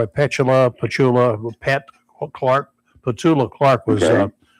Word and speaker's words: Petula: Patula Clark was the correct pronunciation she told me.